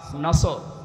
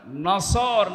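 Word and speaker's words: نصر: এই সূরাটা পড়তে গিয়ে সওয়াদ না বলে সিন দিয়ে উচ্চারণ করেন আপনার কিন্তু নামাজ হবে না কারণ নামাজ ভাঙ্গার কারণ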